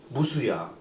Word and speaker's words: 무수: 무를 무수라고 하죠. 무수가 아니야. 무우가 아니야. 무수야. 시옷과 지읒의 중간음을 너무 정확하게 태어나자마자 다 네, 다.